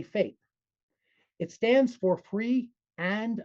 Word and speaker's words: FAPE: One of the most important concepts in the IDA is FAPE which is also typically pronounced as a word by educators. So idea is you spell it out FAPE you say FAPE.